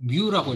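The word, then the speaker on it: μ: 이게 이거 뮤라고 읽는 거거든. 뮤. 예. 뮤라고 읽는 건데. 예. 그래서 문자. 예. 그냥 유라고 쉽게 생각하세요. 예. 유랑은 좀 다르긴 해요. 유고 이거는 뮤고.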